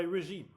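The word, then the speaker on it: régime: in French the word diet is translated by regime But it's pronounced regime.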